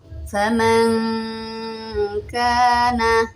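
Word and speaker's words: faman kāna: Faman kana, nun sukun bertemu kaf, samar ya. Jadi cara bacanya itu kita berdengung, namun bibir kita itu bersiap-siap ke huruf kaf ya.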